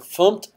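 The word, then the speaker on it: fmt: imported a package so here I'm using the fum package and that's the way you say it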